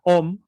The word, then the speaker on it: om: o como por ejemplo la palabra om en realidad se escribe aún a uno entonces se pronuncia la m por ejemplo con el puntito arriba aquí nos está diciendo que se pronuncia como como si fuera la palabra inglesa song entonces ahí vamos aprendiendo